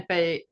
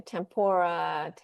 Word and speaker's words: tempeh: But other than that, everybody loves tempeh. Mhm. They don't always remember how to say it. Some say tempeh or Oh, I hear whatever. everything. I hear tempura, Oh, tempeh, tempura.